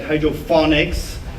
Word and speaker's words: hydroponics: They always say like hydroponics. It's actually hydroponics, because phonics means comes from phono. In Greek, it means sound, and it's like telephone, microphone. So it's not that.